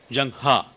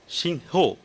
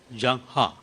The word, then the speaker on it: Zheng He: name of Shanghai is pronounced in China as Jang ha and sometimes it's pronounced as Xin ho so it's pronounced differently but for the Chinese he's Jung ha so III I managed to pronounce this only